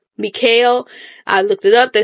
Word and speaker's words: Michal: So the narrator, I'm going to pronounce her name Mikhail. I looked it up. They say you can pronounce it Mikhail, Michal, Michelle. I'm going to call her Mikhail, okay?